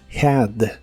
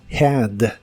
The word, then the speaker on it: had: el pasado es Had la H se pronuncia como una J suave Had Had el verbo de inglés